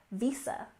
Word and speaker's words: visa: and finally we have Visa we stress the first syllable in visa and of course you